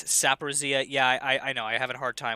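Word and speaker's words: Zaporizhzhia: Eli Guy points out to me that when I pronounce Zaporizhia, it is Saporizhia.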